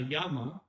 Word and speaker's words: llama: It's pronounced like a Y sound, right? Because it is a semi-vowel. So for example, we have, I put a word here, una llama, right?